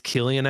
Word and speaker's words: Cillian: I was corrected during a general meeting one time by an exec and they said it's Cillian actually.